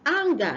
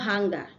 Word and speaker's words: anger: The next one is anger, not hanger.